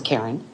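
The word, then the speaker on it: Carren: My first name is spelled C A R R E N. It's Karen.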